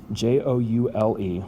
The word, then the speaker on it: joule: name of james prescott jewel j-o-u-l-e we abbreviate this thing with a capital j but it's pronounced like a precious gem like a jewel like so so when